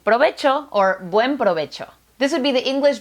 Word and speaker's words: provecho: The eighth Spanish word that doesn't exist in English is provecho.